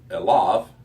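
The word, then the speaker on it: אֵלָיו: And then again, we see this prepositional phrase here of elav, which we've already talked about, how easy it is to mispronounce it. but it ends in a V sound, and it's unto him.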